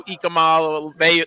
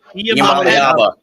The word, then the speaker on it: Iamaleava: Do you like any of the other young men who are going to hopefully be Nico Ikamala? I pronounced that wrong. Iamaleava.